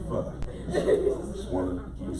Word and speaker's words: pho: soup, and it's called pho. Some people say pho, but it's really pho.